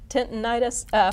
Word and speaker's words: tinnitus: Let's go to, I have struggled with tinnitus. Am I saying it right? Tinnitus for many years.